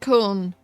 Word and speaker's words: Köln: It's pronounced Köln. Not Cologne. Fucking Americans, man. Am I right? The Germans pronounce it Köln. Because it's actually spelled K-O-L-N. There's like an umlaut over the O also, so it's actually pronounced Köln.